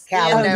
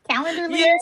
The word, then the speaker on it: Calendly: I can't Calendly. Yes. Yeah, I can't pronounce that one, but I know what you're talking about. I love you. Calendly.